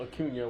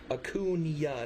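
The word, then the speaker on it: Acuña: but you couldn't even spell Acuna when we did a baseball video. False. Wrong. You forgot the tilde. I did not forget the tilde. Tilde. How could you forget the tilde? It's in Acuna, not Acuna.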